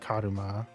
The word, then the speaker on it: Karuma: And Karma is literally how it's pronounced, Karuma.